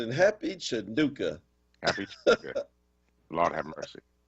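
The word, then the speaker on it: Chanukah: to correct you on air but it's not Hanukkah what did I say not how you pronounce it it's not how you pronounce it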